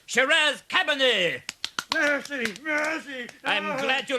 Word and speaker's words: Shiraz Cabernet: The Shazam cabinet. Is he trying to do some magic? You fool, Roger! It's pronounced Shiraz Cabernet.